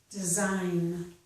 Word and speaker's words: design: Notice this word sign, S-I-G-N, sounds different from the same letters in this word, design. Here it's s, sign. Here it's z, design.